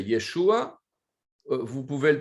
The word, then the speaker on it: Yeshua: y est chaud à son vrai nom c'est yeshoua vous pouvez le prononcé